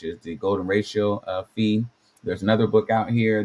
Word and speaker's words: phi: the from the beginning, the pronunciation is supposed to be fe E, which I would think that says FE could be F, but I definitely don't think that sounds like pi, which is the ratio